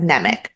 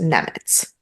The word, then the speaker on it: Nemec: So I said Nemec, but I believe it's actually pronounced Nemetz.